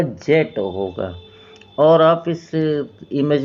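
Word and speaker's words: Djet: लेकिन इसकी स्पेलिंग बनेगी डी जे ई टी बनेगी जिसमें डी साइलेंट रखेंगे। तो इसका प्रोनाउंसिएशन होगा जेट होगा।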